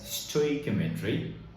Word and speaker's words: stoichiometry: Now, few other persons might pronounce it differently, but I usually pronounce this as stoichiometry.